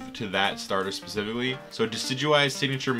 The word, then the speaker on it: Decidueye: Judging by the fact that I think it's named after a deciduous tree, I think it's supposed to be pronounced Decidueye, I guess.